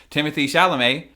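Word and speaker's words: Timothée Chalamet: it's worth noting that Timothy shalam it is pronounced Timothy actually Timothy shalam he also would agreed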